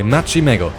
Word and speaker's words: MacchiMeggo: This wall will be the first time in this playthrough that I, MacchiMeggo, that's how we pronounce my name by the way, will build a major building by myself without the use of the schematic cannon.